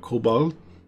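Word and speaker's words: Kobold: they don't exist anymore my German wife told me how to say it Cobo it's called it's basically cobalt kind of and she told me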